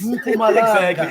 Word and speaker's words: Mpumalanga: Mpumalanga. Exactly. Mpumalanga. So, let me hear. Ik is klaar gezien. Nee, get up. Mpumalanga.